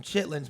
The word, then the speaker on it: chitterlings: We pronounce them chitlins, but if you ever spell them, it's spelled like chitterlings.